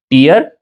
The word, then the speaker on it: tear: क्या पढ़ेंगे इसे? टीयर या टेयर? दोनों हालतों में इसके दोनों प्रोनाउंसिएशन सही है। इसे टीयर भी पढ़ा जाता है और इसे टेयर भी पढ़ा जाता है।